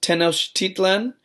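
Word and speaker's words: Tenochtitlan: ago um and its capital city was it's pronounced tenos Tian um I had to look that one up but when it was when this was all made teners Tian was actually one of the one of the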